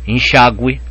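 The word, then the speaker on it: enxágüe: g, gui, que, qui, quando o u é pronunciado, só isso. Então, uma palavra como enxague, enxague, você pronuncia o enxague. Então aqui você tem que pôr trema, enxague, mas já o verbo enxaguar não leva trema. Por quê? Porque aí é guá, OK?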